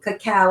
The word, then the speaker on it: cacao: to talk about to start with cacao c-a-c-a cacao is how you pronounce that and it's the raw bean that